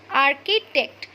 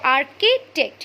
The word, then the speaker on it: architect: am pronouncing this word architect. CH here is silent. Okay, CH will not be pronounced as ch, it will be pronounced as k. Okay, the sound of CH will be k. So architect, you will not pronounce it as architect.